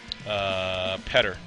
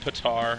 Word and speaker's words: Petter: It's not Petar and it's not Peter, it's Petter. And I'm sure that I'm supposed to roll the R, but I'm not going to attempt to speak that way.